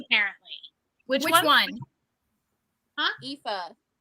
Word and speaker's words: Aoife: Aoife. It's spelled Aoife.